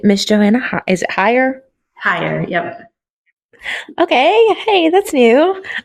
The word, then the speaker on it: Hyer: Hyer, yep. Okay. Hey, that's new. I like it. It's spelled a Thanks.